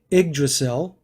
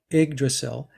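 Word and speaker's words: Yggdrasil: uh it's pronounced the igdrasil but it's spelled y g g d r a s i l but pronounced IG the Y is an i igdrasil is the was the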